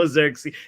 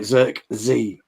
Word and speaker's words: Zirkzee: No Zirkzee. So okay, Bruno is the second. Make sure we say it right. Zirkzee.